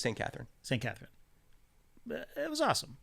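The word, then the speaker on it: Sainte-Catherine: Cath, how do you say it? Is it St. Catherine? Yeah, that was No, just St. Catherine.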